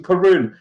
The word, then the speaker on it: Caorunn: of the things that we'll talk about so pronunciation karoon you can see it straight away this is